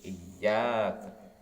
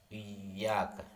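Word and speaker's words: إِيَّاكَ: Qira'ah sabah ya, dalam qira'ah sabah dan jumhur ulama membaca tasdid huruf ya yang ada pada iyyak. Jadi iyyak. Sedangkan Amr ibn Fayyid yang membacanya dengan tahfif ringan. Iyyaka ya, ada tahfif iyyaka. Yakni tanpa tasdid seperti dengan kasrah.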